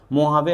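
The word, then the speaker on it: Mojave: मोहावे आपको सबसे छोटा दिख रहा होगा। स्पेलिंग में मोजावे है। लेकिन पढ़ते इसको मुहावे हैं। ठीक है?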